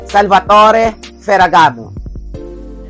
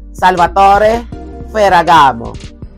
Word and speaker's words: Salvatore Ferragamo: Walang iba kundi ang Salvatore Ferragamo. Repeat after me, Salvatore Ferragamo. Ang spelling is S-A-L-V-A-T-O-R-E, Salvatore, ang pronunciation.